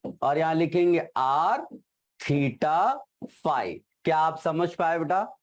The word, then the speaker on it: phi: ठीक है, फाई angle PHI करके लिखते हैं बेटा, हाँ, प्रोनाउंसिएशन फाई है उसका।